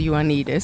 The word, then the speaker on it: Ioannidis: touch with you well if if they can pronounce my surname which is Juanita I'm trying it's your need is underscore